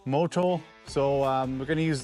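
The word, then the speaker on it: Motul: How do you pronounce that, Trevor? Motol. Motol.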